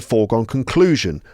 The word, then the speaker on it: foregone conclusion: Right, the result is a foregone conclusion. A foregone conclusion. A foregone conclusion. Foregone conclusion. So that's the first and fourth syllables across the phrase.